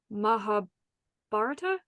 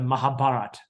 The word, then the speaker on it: Mahabharata: gonna butcher the name Mahabharata yes yes people people over there these days don't say that final a even though it it's there this so they say the Mahabharata oh okay yeah the Mahabharata which is yes I